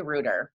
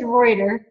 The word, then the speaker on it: Reuter: wrong i feel like i always say ruder are you serious dana i am no it's reuter i've been seeing ruder